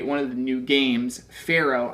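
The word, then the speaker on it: Faro: And actually down here is where you can play one of the new games, Pharaoh. I think that's how you say it. It's F-A-R-O. So, not like the person in Egypt.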